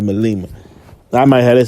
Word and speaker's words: Malema: Julia, I said Melma, but they pronounce it Malema.